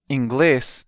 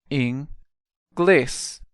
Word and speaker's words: inglês: The next word, inglês, means English. Inglês. Inglês. Notice again the stress is on the last syllable.